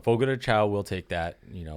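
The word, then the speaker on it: Fogo de Chão: de Sean shown okay I'm guessing most of us mispronounce that we've Americanized it but it's Fogo de shown Fogo de shown Fogo de Chao we'll take that you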